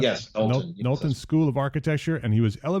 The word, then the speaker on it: Knowlton: Is that pronounced? Yes, Knowlton.